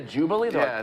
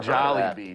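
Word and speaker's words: Jollibee: b e e i I said the name wrong because everyone's like I've never heard of that before Jubilee that could have been why no one ever heard of to Jubilee Jolly Be jollybee it's very famous there's like it's the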